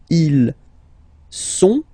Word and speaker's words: ils sont: Okay, ils sont, final T not pronounced, ils sont, elles sont.